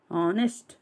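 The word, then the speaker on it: honest: ನಾವು ಆನೆಸ್ಟ್ ಏನ್ ಬರುತ್ತೆ ಇಲ್ಲಿ ಏನ್ ಸೈಲೆಂಟ್ ಆಗುತ್ತೆ ಇಲ್ಲಿ ಎಚ್ ಸೈಲೆಂಟ್ ಆಗಿದೆ ಆನೆಸ್ಟ್ ಏನ್ ಬಳಸಬೇಕು ನಾವು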